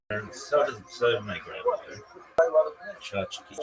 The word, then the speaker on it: tchotchke: Chachki. Chachki pronounced chach. Chachke, chachki, or chachki is a Yiddish term that refers to toys, trinkets, or decorations.